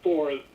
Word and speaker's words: Thor: Thor, or Tor, they pronounce it Tor, but Thor, pronounced in English, is the Norse weather god, storm god.